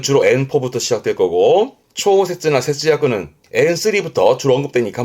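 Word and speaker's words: 調節: 발음은 초세즈, 초세즈.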